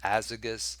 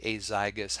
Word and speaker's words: azygos: system some people say as igus some people say azygos however you pronounce it both both are correct so there's three blood